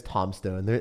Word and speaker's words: Tombstone: her tombstone Hunter he's it is tomstone everyone forgets about the the silent B you got to you